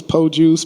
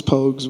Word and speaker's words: Pogues: what's the what's the what's the proper way to say Pogues pokes yeah it's po juice pogus I've heard everything you heard of but it's Pogues and Jamal pokes and see